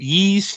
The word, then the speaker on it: Ys: here to talk about is it yeast too is that how you pronounce it yup he's two ancient east vanished